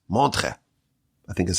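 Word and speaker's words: Montreux: He was in a yeshiva in Switzerland, in a place called Mantra. It's spelled with like E's and U's and X's, but the X is silent. Montre, I think is how you pronounce it.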